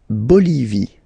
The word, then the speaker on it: Bolivie: La Bolivie. Okay, final E not pronounced. La Bolivie.